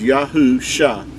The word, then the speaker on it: Yahusha: would say the the mashi the messiah's name pronounced as yahu shah is the way you would pronounce his name